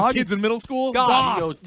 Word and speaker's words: Goth: Goth, not Jared Goff.